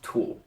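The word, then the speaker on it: 土: a stick at the bottom and this characters pronounced tool it means dirt and it already kind of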